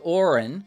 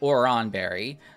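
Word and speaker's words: Oran Berry: up better but with Orin or or sorry oron Berry um there's nothing else attached to it and I feel that it flows better for me you can also say Orin Berry again like pronunciations are fine whatever um so your real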